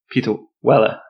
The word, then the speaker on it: Peter Weller: How do you pronounce his name? Oh, I always say it's Peter Weller. Peter Weller. But people say Wooly.